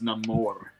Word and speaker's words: Namor: didn't say it right. It's Namor.